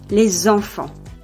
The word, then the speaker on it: les enfants: The plural ending s is normally silent, but when it is followed by a vowel or a silent h, it is pronounced z. For instance, les enfants, the children.